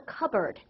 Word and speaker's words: cupboard: this picture right here this is called a cupboard cupboard cupboard covero coverboard covero it's a b sound cupboard covero good the